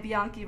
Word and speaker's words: Bianchi: z girl's name and bianchi rhymes with donkey so vote bianchi